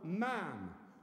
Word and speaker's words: ma'am: you then call her ma'am which rhymes with man its constitution that's what